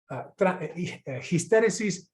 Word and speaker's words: histéresis: Dice, histéresis, voy a ponerlo con H para que no suene como histeria, ¿no? Histéresis, podríamos decir en castellano histéresis, pero es, en fin, estoy eligiendo pronunciarlo así en español, ojalá aprenda.